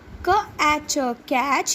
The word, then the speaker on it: catch: To catch. Here children, T is silent.